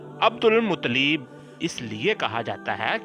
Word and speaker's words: عبد المطلب: ان کو عبد المطلب، درست تلفظ اس کا عبد المطلب اس لیے کہا جاتا